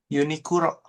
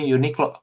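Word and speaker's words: ユニクロ: uni, Uniguro, Unikuro.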